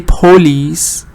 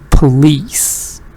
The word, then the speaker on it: police: this is very important many non-native speakers do not change the vowel in Weak syllables to schwa exactly like police you say police and that's all you say oh you don't change it to shua but you should change it to show because least is a strong so you should change it and you should say police if you say poor